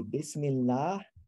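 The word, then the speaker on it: بسم الله: the name of god you would say bismillah and then you would drop this last syllable even though you're still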